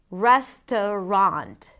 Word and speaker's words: restaurant: Another example, restaurant, restaurant. Res, the primary stress, t, a schwa, a weak stress, and then rond, a secondary stress. We have a pure vowel here. Restaurant. The middle syllable can be eliminated. Restaurant, restaurant.